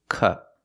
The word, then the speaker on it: cup: The first word is cup, cup. We have to make the short sound, with a closed position, cup, cup.